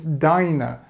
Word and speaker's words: diner: go and have coffee it's Diner because there's only one n okay dinner with the